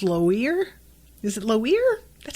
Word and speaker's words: Loire: town it's l-o-i-r-e um and i want to say lior but that would mean that the i would have to be before the o so it's lower is it low ear